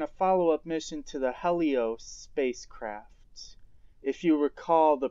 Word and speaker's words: Helios: Now, I know in the previous mission I pronounced the name Helios. Well, since then I've learned that the name is actually pronounced Helios.